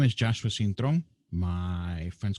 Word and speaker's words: Cintron: My last name is Cintron, Cintron. Yes, Brother Cintron. I'm so glad that you accepted my invitation for today. If you'd like to introduce yourself. So my name is Joshua Cintron.